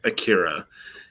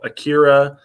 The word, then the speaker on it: Akira: they would always say akira and the thing about japanese is they don't really stress any syllable so akira akira akira like those are